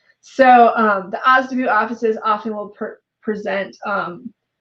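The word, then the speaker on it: OSDBU: that's o s d b u and we pronounce that osda boom so um the ozdubu offices often will present um a procurement forecast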